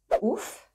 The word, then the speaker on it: ouf: Ouf, being the Verlan of fou. What you do is that you will split it in, well, here too, because it is a very short word. What you do for Verlan is that you switch them and you obtain, ouf.